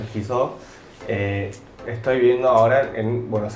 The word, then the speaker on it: Ki-seo: O Kiso, más que está mejor pronunciar Kiso.